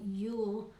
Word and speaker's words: jul: it's so funny because they pronounce it ju l you'll and in America we